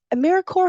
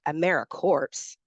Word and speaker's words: AmeriCorps: it it's americore not americ corpse pronounced a maror just like Peace Corp or US Army Corp of Engineers national service Bridges divides